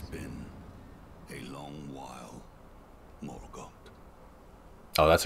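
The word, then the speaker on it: Morgott: cut scene it's been a long while morot oh that's how you pronounce it long and hard did thou fight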